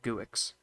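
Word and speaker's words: Guix: guick the proper pronunciation or no Geeks is the proper pronunciation I like to call it guick cuz it's a it's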